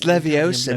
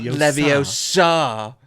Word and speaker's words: Leviosa: you know like and you're saying it wrong yeah it's leviosa not leviosa right yeah so it's